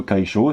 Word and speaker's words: 楷書: Donc l'imprimerie, c'est le kaisho. Donc le kaisho, ça s'écrit comme ceci. Je suis bien dans la caméra, c'est bon. Kaisho. Ok. Donc kai et sho.